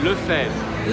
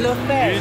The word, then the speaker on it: Lefebvre: So, my last name, we say Lefebvre. Lefebvre. Ludo Lefebvre. What happened to the B? The B, we don't pronounce the B.